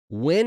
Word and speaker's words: Nguyen: And that Joseph Wynn is spelled Nguyen or something like that, right? Yeah, the Vietnamese.